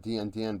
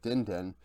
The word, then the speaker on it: Dindin: Outside of a Baron steal by Dindin, so that's how it's pronounced, not DN, but Dindin, stole a Baron with an Ornn ulti.